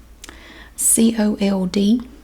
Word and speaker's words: cold: C-O-L-D. I was cold. It sounds like there's a W in there because there's a L.